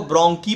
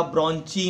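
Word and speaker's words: bronchi: ये प्रोनाउंसिएशन में ध्यान रखना, साइंस में हम CH को च नहीं पढ़ते, हम क पढ़ते हैं। जैसे नाइन्थ में याद करो पैरेनकाइमा, कोलेनकाइमा, स्क्लेरेनकाइमा, वैसे इसको ब्रोंकी पढ़ा जाएगा, ब्रोंची नहीं पढ़ा जाएगा।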